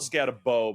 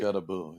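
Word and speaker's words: Skattebo: I hate when people call it Scatabau by the way. I almost did just to really just push her button. Please don't. Unless that's really his name and we're saying it wrong. I don't know. I think it's Scataboo.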